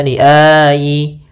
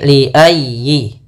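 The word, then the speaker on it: لِأَيِّ: liyi yaumin ujjilat pada lafal ya tekan ya liayyi. Jangan dibaca liayi atau liayi. Ah jangan tapi liayyi.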